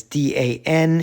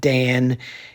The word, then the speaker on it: dan: I'm doing characters that are written as D-A-N in Pinyin, but it's not Dan. It's pronounced Dan.